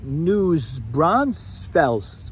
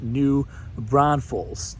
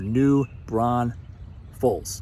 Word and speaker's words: New Braunfels: here, and we hear News Braunfels quite a bit. It's pronounced New Braunfels. There's even a song about it. There's only one S in New Braunfels.